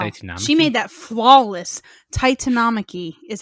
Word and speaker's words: Titanomachy: This kicks off the I believe it's called the Titan Marky. Titanomachy. Wow. Titanomachy? She made that flawless. Titanomachy is how it's pronounced.